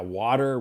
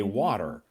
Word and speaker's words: water: I think this one Yeah, water. We just say water. Yeah, it sounds like w a d e r water and not water.